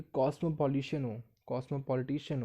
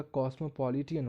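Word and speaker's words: cosmopolitan: Model हो जो कि कॉस्मोपॉलिटिशियन हो। ये करेक्ट प्रोनाउंसिएशन है इस वर्ड का, कॉस्मोपॉलिटियन हो।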